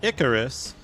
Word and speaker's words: Icarus: it Icarus is pronounced Icarus with the first symbol rhyming with pick the name comes from